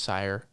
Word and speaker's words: Cyr: I think it's pronounced Sire.